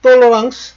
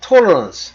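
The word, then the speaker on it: tolérance: 지금 돌랑스 돌랑스라는 건 프랑스 발음이고 어 영어로는 톨런스 우리말로는 관용 그러니까 이놈 다 끌어들인 거예요.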